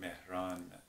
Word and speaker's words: Mehran: pronounced in Persian although people here because the pronunciation is a bit hard they just say but Mehran um the first part of my name is